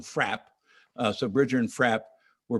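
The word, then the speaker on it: Fraeb: He went twice in 1840, and a man named, well, his name is spelled Frabe, F-R-A-E-B, but he was one of the partners. He was actually Bridger's partner. Bridger and Frabe, they called him Frapp.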